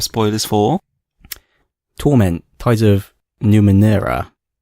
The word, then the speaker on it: Numenera: how they're pronounced and it turns out we're pronouncing the actual name of the game wrong cuz I thought it was Numa Nara and I couldn't understand